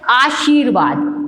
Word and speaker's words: आशीर्वाद: है, रा आधा है, तो अपना शब्द उच्चारण क्या है, आ फिर शी। रा का उच्चारण कहाँ आ रहा है, ये दो के बीच में आ रहा है।